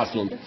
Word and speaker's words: Аслунд: с Изра да Или аслунд по-разному его фамилию произносится Но обычно сейчас писать ослу Хотя он на самом деле действительно аслунд между прочим можно сказать